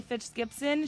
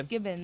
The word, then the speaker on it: Fitzgibbons: I might pronounce her name wrong, but Sally Fitzgibbon, she's ready to go run. Sally Fitzgibbons. Did I say that? Sally it's okay. Fitzgibbons.